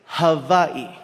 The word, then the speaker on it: Hawaii: First things first, the proper pronunciation is havi just so the world gets to hear it right at least once.